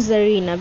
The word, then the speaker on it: Caesarina: No, it will be zer and zerina because the pronunciation of c is omitted.